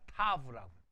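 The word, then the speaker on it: Tav: 맨 마지막 단어 타우가 아니라 타브라고. 왜냐하면 이 W를 아까 위에 바브라고 했지 와우라고 안 했잖아요. 그러니까 맨 마지막이 타우가 아니라 타브라고 발음해요. 타브. 그건 고치시죠. 타우가 아니라 타브라고 발음합니다. 타브.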